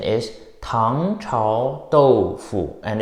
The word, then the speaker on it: 豆腐: In Chinese, the pronunciation of tofu is doufu.